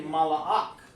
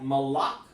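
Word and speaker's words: מלאך: So when you say mala'ak, it's almost like malak or malakwaf, or malak means king. So you call him the angel is malak. That's how you pronounce his name.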